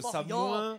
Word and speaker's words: Samoëns: Et pourquoi on dirait Delma, ici? Bah, parce qu'on dit Avoria, on dit Samoin... Et on dit Chamonix. Et on dit Savoyard. Voilà, la dernière consonne n'est pas prononcée.